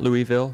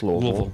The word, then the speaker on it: Louisville: It's not Louisville, it's not Louisville, it's Louisville. One syllable.